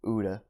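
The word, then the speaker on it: Utha: I think he was an interpreter, and another guy, young man, his name was Uda. I can't really remember where he was from. His name was actually spelled like Utah, U-T-H-A.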